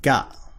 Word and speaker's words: が: So that symbol is pronounced ga. So ka becomes ga.